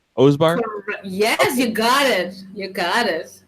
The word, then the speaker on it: Osbahr: Osbahr?